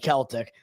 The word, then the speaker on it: Celtic: So I don't know and they pronounce it the right way, Celtic.